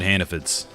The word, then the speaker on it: Hannaford: And you pronounce it Hannafids. F-I-D-S at the end.